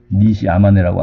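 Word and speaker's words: 西周: 그래서 한자 말은 서주 이렇게 쓰는데, 하여튼, 이 일본식 발음이 이제 니시 아마네라고 하는데, 니시 아마네라는 그 사람이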